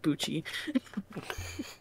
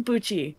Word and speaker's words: Bucci: is uh i wanted to call him mark bucci but um marco uh busy you know what i can't say it right pixie what what how do you say that it is buchi okay uh mark abuchi if anyone here listening